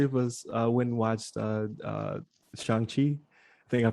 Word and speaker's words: Shang-Chi: Like there's a whole scene where he's just like Chang, like right. Say it right.